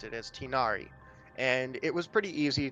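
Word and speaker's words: Tighnari: nickname for it I I heard how pymon pronounced it as tinari and it was pretty easy to roll off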